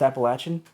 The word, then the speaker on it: Appalachian: I was actually told by someone from the Appalachian area that it's pronounced like throw an apple at you.